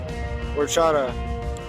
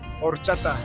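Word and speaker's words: horchata: Strawberry ora. No, you said it wrong, man. That's That's I I say it like that because that's what my fans call it. All right. Strawberry orchata.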